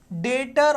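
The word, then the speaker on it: debtor: definition बताता हूं आपको डेटर और क्रेडिटर बेटा यहां पर देखो डेटर्स बेटा बी साइलेंट है डेटर और उसका भाई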